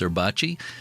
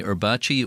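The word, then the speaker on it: Erbacce: Uh, I'm not 100% sure how to pronounce that. E R B A CE. I think it's Erbachi.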